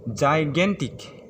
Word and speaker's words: gigantic: पर आता है वर्ड जाइगेंटिक। इसका स्पेलिंग होता है GIGANTIC। अगर हम लोग इसका इंग्लिश का लिखने जाते हैं तो इसमें 3 सिलेबल होता है, जैसे JAI plus GAN plus TIC, जिसका मतलब होता है ह्यूज, बड़ा, विशाल, जाइगेंटिक।